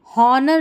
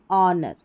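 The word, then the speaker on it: honour: एच यहां पर silent है। यहां पर होनेस्टी नहीं ऑनेस्टी। हॉनर नहीं ऑनर।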